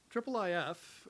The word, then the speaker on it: IIIF: more efficient that way so triple if' and that is the official pronunciation I believe came along